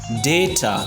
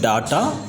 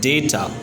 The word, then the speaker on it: data: It is known as data, like DAY-TA, 2 syllables. It's not pronounced as data, instead data.